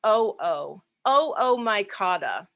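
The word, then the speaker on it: Oomycota: like it ought to be pronounced but we pronounce that o-o-o-o-micotta these are what we used to call the water molds and the reason i even mentioned this is because this oomycata organism is the kind of fungus that brought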